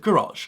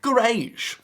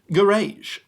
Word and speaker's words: garage: Americans still pronounce this word garage. What Philistines? I just can't believe it, really. The correct pronunciation is garage. Duh, it's right there. It looks like rage. Garage.